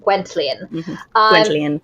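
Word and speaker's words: Gwenllian: It's spelled Gwen, but there's a distinct T when the narrator says it. Gwentian.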